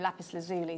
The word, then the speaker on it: lapis lazuli: called lapis lazuli there that's the american pronunciation of this gemstone lapis lazuli so you might have